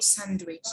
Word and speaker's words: sandwich: and here we have silent d okay like badge handkerchief handsome okay hedge or headed like a wedge a wednesday or sandwich these are the silent